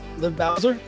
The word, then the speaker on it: Liv Bowser: our special guest today, Liv Bowser, right? Liv Bowser? That's how you pronounce that? Nice. Correct.